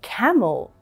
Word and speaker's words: camel: In camel, we do not pronounce the E sound.